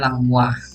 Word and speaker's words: Langmuir: Tulisannya Langmuir ya, cara bacanya Langmuir gitu.